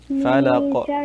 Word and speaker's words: فلق: Falaq. Just like I told Ilham, make sure to do falaq. Falaq. You hear that sound at the end there?